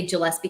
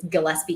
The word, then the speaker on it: Gillespie: Like I used to say Gillespie County, which I understand is Gillespie County.